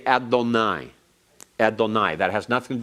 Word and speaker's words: Adonai: Don't ever pronounce Yahweh as Yehovah or Jehovah. That is an artificial form that is not to be pronounced. That's to tell you to pronounce it Adonai.